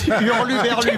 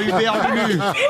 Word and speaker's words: hurluberlu: Hurluberlu, pas Uberlulu.